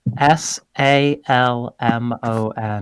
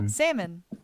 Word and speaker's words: salmon: say it out yourself the fish s-a-l-m-o-n salmon that's how the New Jersey accent's supposed to pronounce it but they're saying that's